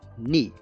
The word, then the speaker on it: knee: Knee. ما كتنطقش الكي. Okay, we don't pronounce K because it's silence.